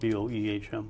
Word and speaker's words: Boehm: It was spelled Boehm. Yeah, isn't that something? So you pronounce it Boehm.